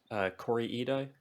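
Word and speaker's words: Kore-eda: Yeah, that was my first Corey Ida, I think is how you say his.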